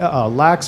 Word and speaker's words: LAX: some of the biggest nightclubs, XS, Hakkasan, Lavo, Lax, or LAX, however you want to pronounce it, Tau, and Marquee.